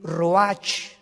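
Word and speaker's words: רוח: y exhaló isaac el roach así como suena se pronuncia la ch en hebreo como j se le salió y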